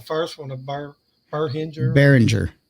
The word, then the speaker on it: Behringer: one i get the what how do you pronounce the first one of her hinger behringer behringer yeah shows what i know yeah it's it's